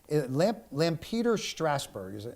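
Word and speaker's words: Lampeter-Strasburg: And then Lampeter Strasburg. I think that's how you pronounce it.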